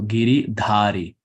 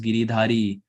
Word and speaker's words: Giridhari: find a line so giri dhari if the a is not there then it's giridhari so if so any alphabet that has the line on top it's pronounced ah this is the conversion of